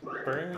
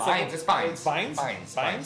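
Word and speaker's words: Bynes: be or whatever Amanda Burns Burns how do you say it it's binin bin I liked her in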